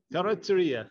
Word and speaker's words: Carrozzeria: Carrozzeria.